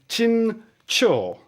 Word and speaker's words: Htin Kyaw: Today, Myanmar's National League for Democracy nominated Htin Kyaw. Is that my right? Yeah. That's the pronunciation, more or less.